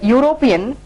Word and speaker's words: European: The word European starts with a U sound rather than E or A sound.